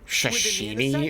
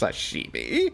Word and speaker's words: sashimi: But he pronounced it like shashini or whatever. It is not far to fight. The waiter was just like asked to repeat it like four times. Like it's sashimi.